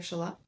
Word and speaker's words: Shalott: We were making jokes about So clearly the lady of Shalot, is that how you say it?